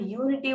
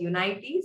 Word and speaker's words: unity: so many and then the word Unity was mispronounced as United so please make sure uh see that it is unity and uh yeah the